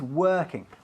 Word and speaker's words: working: Se escribe working, pero no se pronuncia así, sino working. Un sonido de vocal que tampoco existe en español. Working. Lo hacemos casi con la garganta ahí.